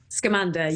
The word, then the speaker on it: Scamanda: I hope that I am saying that correctly, Charlie. Am I pronouncing that correctly? Scamanda, yeah. Scamanda. So it's supposed to be a play on words because she's called Amanda and she's scammed, but it's so much more than a scam.